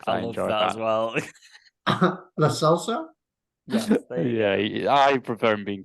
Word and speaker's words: Lo Celso: Can you just pronounce his name again? I love that as well. Lo Celso.